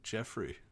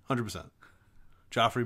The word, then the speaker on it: Joffrey: the giraffe Toys R Us giraffe that's that's Jeffrey Jeffrey it's just Jeffrey G but I think it's spelled with a G jrey it's Geoffrey anyway are you sure it's it's Joffrey Joffrey 100% Joffrey barath barathan is this a look it's something